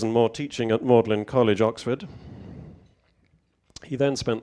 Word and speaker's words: Magdalene: of his career at mlin College Cambridge mlin by the way if you don't know is how we in England for some reason pronounce Magdalene mlin Magdalene and he was